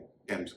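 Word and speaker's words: Thomas: जैसे टी एच ओ एम एस इसे थॉमस नहीं कहेंगे थॉमस कहेंगे। इस तरह थॉमसन नहीं थॉमसन। लंदन में जो नदी बहती है उसे भी थेम्स नहीं कहेंगे। थम्स कहेंगे और एक पौधा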